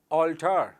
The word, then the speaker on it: altar: ALTER, इसका उच्चारण है ऑल्टर, और दूसरा वर्ड मेरे पास है ALTAR, इसका उच्चारण है ऑल्टर।